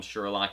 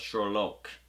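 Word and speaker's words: Sherloque: was fun and like having to correct people the entire season uh with them saying it wrong they'd call him sherlock he's like no it's shorlock that was really that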